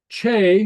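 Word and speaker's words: teth: Che, which means hot, the the T is a soft T.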